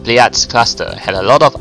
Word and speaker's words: Pleiades: Anyway, I mean, Pleiades cluster.